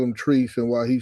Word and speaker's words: Trice: I understand why everybody call him Trice and why he said cuz it's Montrice, but when you take out the Mont out, it's Trice.